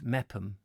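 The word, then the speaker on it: Meopham: Michael angel meth mayor femme in Kent is meppen MS records are delightful brilliant oh is it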